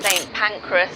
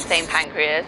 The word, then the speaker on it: St. Pancras: St. Pancras, not St. Pancreas, I struggled with this.